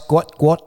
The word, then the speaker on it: Gout: Guat. Oh, it is a full name. Yeah, it's pronounced guo t.